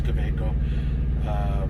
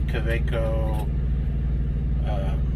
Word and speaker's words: Kaweco: I've heard it pronounced a lot of different ways. I think it's Kaweco.